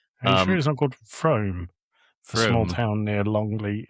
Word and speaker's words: Frome: But the the place near Bristol is called pronounced Frome.